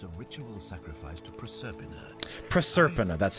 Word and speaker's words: Proserpina: Proserpina, that's how you say it.